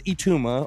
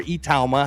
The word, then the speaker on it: Itauma: His name is Moses Itauma or Itauma, however you want to pronounce it.